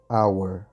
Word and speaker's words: hour: E palavras em H quando a gente não pronuncia. Então, por exemplo, a palavra hora em H, a gente vai colocar aqui an hour. Estão vendo? Então a gente não pronuncia esse H. Esse H é mudo, por isso an hour.